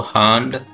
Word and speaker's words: Hand: HAND, इसका German में pronunciation होता है दोस्तों हांड। हांड का मतलब होता है हैंड।